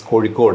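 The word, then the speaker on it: Kozhikode: where was how to pronounce that this is cod originally it was called calic by the by the English okay then the the the native name or the malayali name is kod and this is where wasama uh stepped in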